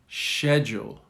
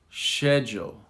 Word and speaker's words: schedule: Most British, not all, but most British say schedule. Schedule. All Americans and some British from Birmingham, for example, will say schedule. Like SK.